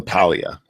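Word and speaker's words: Paglia: Summers I love Camille Pia I don't agree with her on everything she's oh she's F that cam who Camille who Camille Pia it's PG l i a but the g is silent she's she's kind of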